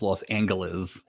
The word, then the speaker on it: Los Angeles: If you caught this later, it's pronounced Los Angeles.